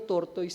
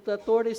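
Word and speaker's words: tortoise: Yun pala kasi tayo pilipino tortoys yung alam natin eh. Kaya nung sinasabi pinapakinggan ko toris always wins. Tinignan ko yun pala talagaung pronunciation. Hindi pala tortoys. Ala ko tortoys e.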